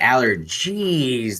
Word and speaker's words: Allergeez: see and the way the way I say it too and the way you just said it and how it's spelled on the can and everything I think Aller gez like whenever noan